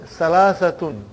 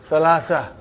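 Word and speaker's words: ثلاثة: And then Salasatun. But you will always hear the word Salasa. Like Fatima, not Fatima to Fatima.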